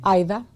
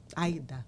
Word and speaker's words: Aida: I was saying um I was just allowing people to say my name incorrectly because How should people say your name? Ida. Aida. Yeah, it's Ida.